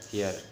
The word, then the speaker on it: fear: फियर, लफ्ज़ फियर इसको हम प्रोनाउंस करते हैं फिया, यानी आर साइलेंट है इसमें।